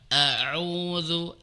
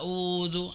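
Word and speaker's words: أعوذ: Misalkan dalam lafaz auzu a auzu sering terbaca audu ain dulu atau ain ke semua maka benar hamzah a u a u a ini harus tepat jangan sampai kemudian tertukar.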